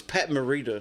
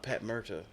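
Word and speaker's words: Pat Morita: And I know I said it's Pat Marita, not Pat Merta.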